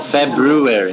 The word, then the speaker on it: February: should all right so how do you say it February no February remember the Brew part oh February yeah exactly February okay